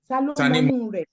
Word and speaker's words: Tanimonure: So let me get the pronunciation right. For those who Tanimonure. Yes. Tanimonure. Oh, who knows what is inside? Yes, you got it.